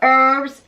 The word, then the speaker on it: herbs: Cook the wafers to perfection and then top them with herbs and cheese. Is that herbs or herbs? I think herbs. Herbs. The H is silent.